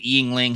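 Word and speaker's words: Yuengling: And yeah, he's Murray pronounced it yingling. He pronounced it right.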